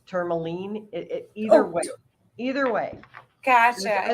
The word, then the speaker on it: Tourmaline: Some people pronounce it Tourmaline, it's Tourmaline.